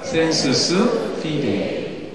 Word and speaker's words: sensus fidei: 우리 어르신들 밑에 있는 라틴어를 뭐라고 읽냐면 sensus fide이라고 읽습니다. 한번 배워볼까요? sensus fidei.